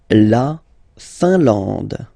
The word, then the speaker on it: Finlande: La Finlande. I-N here, nasal, un, A-N, nasal, en, and then D, final E, not pronounced. La Finlande.